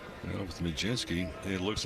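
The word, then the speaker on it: Mlodzinski: Change up from Majinski. Well, with Majinski, it looks like an eye chart. It's spelled M L O D Z I N S K I. Pronounce Majinski.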